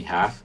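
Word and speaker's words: 他: we have to make the difference in the characters but not their pronunciation which is the same for he and she now here we have the character for he and pronunciation ha ha then the character for she as you can see the character changes a little bit the left part of it here we have the radical for woman but the pronunciation is the same as he so we have ha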